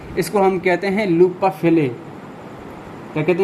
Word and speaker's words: Henle: है इसको हम कहते हैं लूप ऑफ हेले। क्या कहते हैं भाई, लूप ऑफ हेले। ठीक है, HENLE ये स्पेलिंग है इसका, मैं आपको बता दूंगा, यहाँ पर लिखा हुआ है लूप ऑफ हेले।